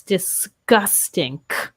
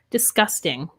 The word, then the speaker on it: disgusting: switch up in words we might pronounce a g as more of a k sound so yes disgusting almost dis disgusting yeah we do kind of like an sk sound disgusting yeah you got it